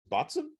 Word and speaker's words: Boatswain: It tells you how to pronounce it on the can, thankfully. It says, I think that's a Botzen.